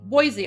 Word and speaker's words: Boise: Boise. I remembered. I remembered cuz I mispronounced it yesterday, but then you guys taught me.